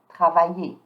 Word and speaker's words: travaillez: Vous don't pronounce the S, and the easy is pronounced A. Vous travaillez.